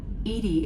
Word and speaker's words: EDI: airlock is ajar why are you named edie edie is the phonetic pronunciation of edi that is an acronym for